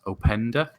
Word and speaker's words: Openda: So there was one that was doing the rounds on Saturday when I was doing the live stream of Lois Openda, I think is how you say him, from RB Leipzig, which it's a striker.